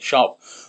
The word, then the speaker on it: siop: And word for shop, I believe in Welsh is just shop, but it's spelled SIOP.